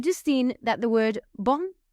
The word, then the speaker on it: bon: So, because the word bon in its muscular form ends in a consonant, you don't pronounce the m on the end. Bon.